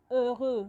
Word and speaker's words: heureux: And before I go on, in French language, the letter H is silent when you're pronouncing words. So it's not heureux, it is heureux. You pronounce from the E.